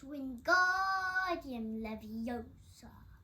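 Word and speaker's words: Wingardium Leviosa: heard Hermione snap it's when guardian Leviosa make the guard nice and long you do it then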